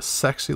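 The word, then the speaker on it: せ: And then finally, we have the one that has the pretty monster face with a sexy little tooth in the middle.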